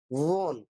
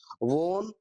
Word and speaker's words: won: इसका जो right pronunciation होता है won, और हम लोग इसको क्या बोलते हैं, वन बोलते हैं। वन नहीं भाई, वोन है।